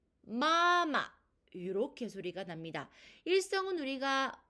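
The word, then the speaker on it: 妈妈: 일성뒤에 경성이 왔을 때 마마, 마마 이렇게 소리가 납니다. 일성은 우리가 오에서 오, 즉 솔에서 솔로 소리가 쭉 나는 소리였었죠. 그래서 마라고 발음을 하고요. 이 일성 뒤에 경성이 왔을 때는 음의 높이가 뚝 낮아지면서 마마, 마마 이렇게 소리가 나는 것입니다.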